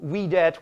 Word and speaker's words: videt: And videt, which is how we pronounce it, but videt, that's where we get video, see, video, right, okay?